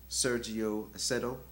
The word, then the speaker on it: Sergio Acedo: mispronounce the name um i believe the name is sergio aceto all right and i'll spell it as s-e-r-g-i-o a-c-e-d-o all right um so